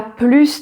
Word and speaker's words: plus: So something that is positive, that is adding something, and yet you do not pronounce the final S. The final S is silent.